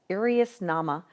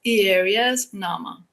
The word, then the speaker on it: Ierias Nama: are you Donna I'm very here want to pronounce the name of your company correctly and I want to say it's IRAs Nama but I know that you'll say it much